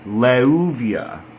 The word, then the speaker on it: Leuviah: So the pronunciation of the angel name Leuvia not to be confused with Laouvia which was the root letters were in that case lammed alith vav.